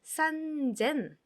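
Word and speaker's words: さんぜん: 산센이라고 하지 않고요. 어떻게 해요? 산젠. 산젠이라고 합니다. 산젠.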